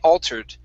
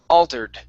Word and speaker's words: altered: clothes were altered now we're not going to use as as heavy as a flap as a flap um a t as we would usually use like in waiting okay or this is this is going to be a like halfway between a t and a d sound so we don't want